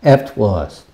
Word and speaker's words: afterwards: afterwards. 나중에. 여기 퍼는 약한 발음입니다.